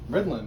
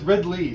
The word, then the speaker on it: Ridley: Ridlin, he's the Ridlin. flight director. That looks like a Y. Oh, it's Ridley, sorry. I spelled it right, but said it wrong.